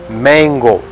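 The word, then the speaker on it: Mengo: the mango palace and this mango is spelled as m e n g o not M A it might sound like the fruit but it is not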